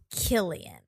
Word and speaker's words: Cillian: Cillian Murphy is Killian with the hard K. Okay. Okay. But spelled with a C though, right? Yeah. Yes. With the hard spelled K with the sound. C with the hard K sound.